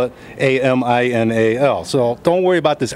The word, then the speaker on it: Aminal: And that is spelled A-M-I-N-A-L. And everybody just calls me Animal. Well, not really true, because when we say Animal, everybody corrects me and says, no, it's Aminal.